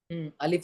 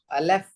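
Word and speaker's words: ألف: पढ़िए फिर से अलिफ अलफ नो अलफ की स्पेलिंग क्या है? ए एल ई एफ अलीफ जो कि मजहूल है मोटा है गलत है। पढ़ना है अलीिफ एल आई एफ अलीिफ एल आई अलिफ अलीिफ अलीिफ हम बा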